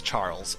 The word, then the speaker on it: Xujhan: The canonical pronunciation of Xujhan is Charles, so that's me.